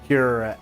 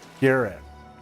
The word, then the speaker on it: cuirass: Botanically, it is RAS with the emphasis on the second syllable. Well, that's what I always thought it was said, was cuirass. So C-U-R-A-S-S, cuirass.